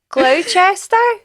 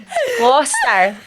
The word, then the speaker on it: Gloucester: it's in Gloucester?